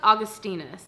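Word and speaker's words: Augustinus Bader: Also, it's Augustinus.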